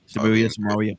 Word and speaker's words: Samaria: Woman of uh is it Samria? Is that how you pronounce it? Yeah. Mhm. Samaria.